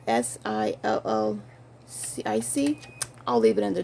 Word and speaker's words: Schuyler: I never can pronounce it. So it's SILLCIC.